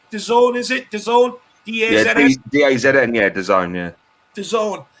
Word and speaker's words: DAZN: And for all you people in Canada, I don't know how you pronounce this, but it's DAZN, is it? DAZN? D-A-Z-N?